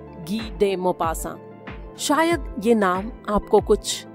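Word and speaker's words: Guy de Maupassant: लगे वो इसलिए क्योंकि अक्सर लोग उनके नाम का गलत उच्चारण करते हैं। हिंदी भाषी लोग उन्हें गाय दीपासा के नाम से ज्यादा जानते हैं। लेकिन असल में फ्रेंच भाषा के उच्चारण के हिसाब से उनका नाम है गी डे मोपासा। मोपासा अपने समय के बहुत प्रसिद्ध राइटर रहे हैं।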